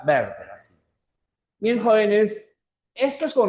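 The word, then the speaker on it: Werther: Werter, sino verter, ya? Porque es del alemán, ¿ya? Werter.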